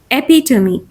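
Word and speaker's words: epitome: he looked a truly पेट्रियकल figure एपिटमी एपिटमी एपिटमी एपिटमी इज़ a perfect example of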